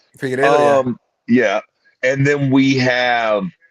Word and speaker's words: Figueiredo: Is that how you pronounce the little prick's name? Figueiredo, yeah.